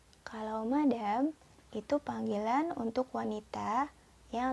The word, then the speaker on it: madame: Yang kedua dibaca madame. Madame.